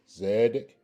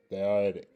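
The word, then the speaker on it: צדיק: So again, it's pronounced Zedic or Thadic. Thadic.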